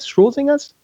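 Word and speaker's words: Schrödinger: Schrodinger's? However you pronounce his name.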